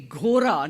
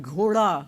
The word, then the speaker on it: ghoda: at that age, then she would say ghora, not ghoda, when she grew up.